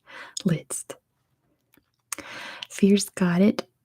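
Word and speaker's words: Liszt: next airport person is list at least that's where that's how we say his name in American English list Fierce got it spelled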